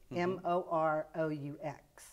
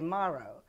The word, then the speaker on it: Moroux: In Louisiana, they say Moroux, but okay. Where I come, where I'm accustomed to, I say Moroux.